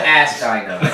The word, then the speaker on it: Astyanax: Can we please stop mispronouncing Astyanax? Oh wait, the joke is dead? Astyanax. Well, I mean that joke. Astyanax.